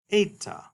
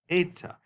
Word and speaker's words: Eta: This is a long E sound, like in the word they. Notice that might sound like a long A sound from an English speaker standpoint, but in international linguistics and phonology, we talk about this as a long E sound, A. Or if it helps you, you might think of it like the AY in a word like may.